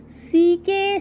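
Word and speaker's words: sack: Page number 34 इज सी के sound word. Yes, सी के sound words. Let's pronunciate सम सी के sound words.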